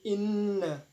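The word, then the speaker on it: إنّ: Inna. Nah, di sini ada gunnah sebab huruf nun ditasdid. Jadi bacanya inna, jadi ditahan.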